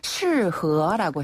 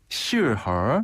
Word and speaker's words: 适合: 네, 요 적합하다, 어울린다라는 표현을 중국어로는 适合라고 해요. 适合. 네, 한 번 더, 适合. 실, 이 발음이 어렵네요.